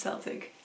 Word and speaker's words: Celtic: I can pronounce it Celtic, because it used to be pronounced Celtic with an S. And if you want to pronounce it with a K, that's also correct.